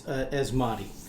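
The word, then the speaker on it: Asmodee: this one r s yeah and for the pronounce the uh it's asmati asmati thank you asmati asmati uh there's an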